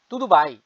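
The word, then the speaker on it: tudo bem: হাউ আর ইউ কেমন আছেন হাউ আর ইউ তুদু ভাই তুদু ভাই উচ্চারণ কেমন আছেন তুদু ভাই পর্তুগিজ আপনি থ্যাংক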